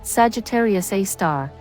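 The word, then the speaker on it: Sagittarius A*: Center this black hole known as Sagittarius A asterisk pronounced Sagittarius A star has a mass of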